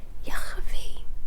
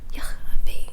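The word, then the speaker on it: ych a fi: It's in Welsh, so it's spelled YCH space A space FI, which is pronounced Yachavi. There's a lot of in this pronunciation. Yachavi, I think that's right. That's how my family says it anyways, which means disgusting, like filthy, disgusting.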